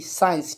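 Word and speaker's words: science: तो यहां पर देखें एस सी आई ई एन सीई साइंस ठीक है तो यहां पर भी देखें एस के बाद में क्या है सी तो सी तो हो जाएगा साइलेंट ठीक है तो हम इसके लिए क्या पढ़ेंगे साइंस चलिए ये हमारा सी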